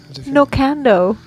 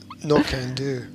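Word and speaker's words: Knockando: Nokando. I want to live in Nokando. I believe it's pronounced No Can Do. Oh. I thought it was just like Commando. But with knocking.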